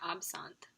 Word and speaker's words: absinthe: I pronounced absentee wrong. So the correct way to say this word is absent. And so throughout the video, when I do say absentee, just kind of